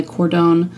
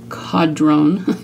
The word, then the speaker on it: Codron: think the reason why cordone no Cadron I say his name wrong all the time didn't kill Lon is